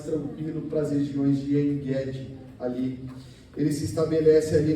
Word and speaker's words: En-Gedi: nos lugares seguros de En-Gedi, ou En-Gedi, que no hebraico é Ge a pronúncia, sempre é Ge, tá? Tanto em grego quanto em hebraico, não é Getsemane, é Getsemane, sempre o G é Ge.